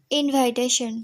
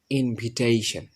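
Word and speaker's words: invitation: ইনভাইটেশন। ইয়েস, ইনভাইটেশন। আমরা ইনভাইটেশন card দিই না? ইনভাইটেশন কার্ড দিই, ঠিক আছে? ইনভাইটেশন কার্ড বিলি করি। এটা সঠিকভাবে উচ্চারণ করব। এটা সঠিক উচ্চারণ হচ্ছে ইনভিটেশন।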